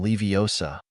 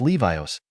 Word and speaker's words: Leviosa: someone's eye out besides you're saying it wrong it's levos not Leviosa you do it then